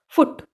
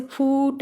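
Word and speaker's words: foot: आपका नेक्स्ट है फुट। ये वाला इसको ऐसे ही रिप्रेजेंट करते हैं, फुट, ऐसे फूट ऐसे नहीं बोल रहे हैं, फुट बोल रहे हैं।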